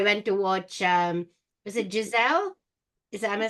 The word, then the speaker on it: Giselle: And then I went to watch, was it Giselle?